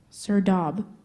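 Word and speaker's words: serdab: a word that went from Persian to Arabic sir dob s e r d a b sir do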